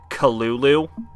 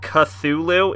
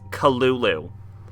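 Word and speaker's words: Cthulhu: culu you know actually the lovecrafting pronunciation guide uh says that cthulu is actually meant to be spelled uh said Kulu like it's not cthulu it's culu which is adorable and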